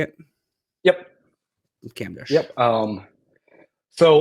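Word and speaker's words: Kamdesh: uh camish so how you say it yep camish yep um so like like I said for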